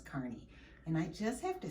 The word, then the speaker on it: Kearney: kearney or kearney but i think that the appropriate pronunciation is carney and i just have